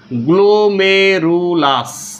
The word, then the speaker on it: গ্লোমেরুলাস: লেখা যদি না বুঝাচ্ছি, উচ্চারণ শুনো। গ্লোমেরুলাস, দন্তস, গয়ালে ওকার, ময়ে একার, রয়ের উৎসু, ল আকার, দন্তস। গ্লোমেরুলাস কি?